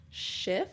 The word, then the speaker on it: Schiff: So in February of 1994, Congressman Steve Schiff, I think is how you pronounce his last name.